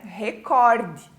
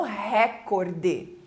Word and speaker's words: recorde: pessoas falam Nobel ã também a palavra recorde né recorde e não recorde tá então essa tendência